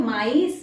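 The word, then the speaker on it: maïs: इसको हम प्रोनाउंस करेंगे मे, ठीक है? इसके अंदर सेकंड में त्रेमा नहीं है, इसको हम मे कर रहे हैं, एस नहीं प्रोनाउंस कर रहे लास्ट का, मेस नहीं है, लेकिन यहां पे हम माइस बोल रहे हैं, समझ आया?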